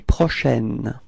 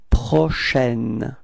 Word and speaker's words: prochaine: Demain soir, repeat, demain soir, okay, and then finally, la nuit prochaine, repeat, la nuit prochaine, okay, so for the pronunciation, it's prochaine, it's open, it's a, okay, prochaine, so la nuit prochaine, repeat.